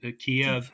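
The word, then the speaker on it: Kyiv: spell out Kiev and Kev. I'm sorry. I Yeah, we that that's the Ukrainian pronunciation. It's the one syllable pronunciation. Kiev is apparently the Russian pronunciation.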